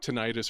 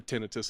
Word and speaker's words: tinnitus: I have tinnitus or tinnitus, however you want to pronounce it.